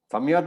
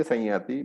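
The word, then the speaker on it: संयति: yakara, you have to, the anuswara sort of merges into the ear and therefore it becomes a nasal sound. It becomes sany. Samyati is not wrong. Okay, some people do pronounce samyati, some of the traditions, maybe the north and all that, but it's okay. We are following a particular tradition, so we say sanyati, but if you are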